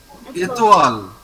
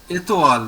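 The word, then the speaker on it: étoile: OI is OA. So it is Etoile. Etoile.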